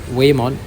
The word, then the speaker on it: Whamon: yeah way mod like the H is kind of Silent here so wayon um in this case